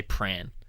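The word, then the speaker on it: Prahran: it's the same kind of thing as the way you're supposed to say pran, where it's Like, yeah, yeah. because it's spelled Prahan.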